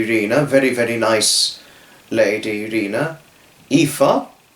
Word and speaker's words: Aoife: very nice lady Rena, Aoife, which has a funny spelling, I think it's Aoife, but it's Aoife as far as it's pronounced.